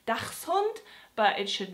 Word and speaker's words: dachshund: it should be pronounced dachshund but it should not because Ducks is one word and it has a CH s sound and is X so correctly it is dachshund so I hope this